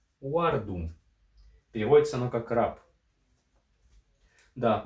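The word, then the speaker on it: wardum: ваканском это о который записывается как в английском буквой w и который по английскому всем и знаком но все-таки пример мы приведем слово uardum переводится оно как раб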